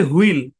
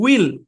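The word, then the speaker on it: wheel: প্রচলিত আছে হুল উচ্চারণ যেমন আমরা বলি হুইল কিন্তু অরজিনাল উচ্চারণ কি উইল এখন আপনি উইল বললে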